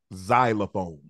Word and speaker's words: xylophone: next word is xylophone xylophone xylophone now I played the saxophone and I played the piano MH xylophone is not spelled exactly how it sounds which is a problem